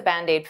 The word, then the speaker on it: Band-Aid: is 2 words, but to pronounce them like one, I'll take that D and transfer it to the vowel.